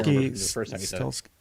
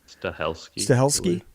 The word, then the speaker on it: Stahelski: um what is steli is that how you pronounce his name his last name looks like stes stahelski stahelski there it is s a h e l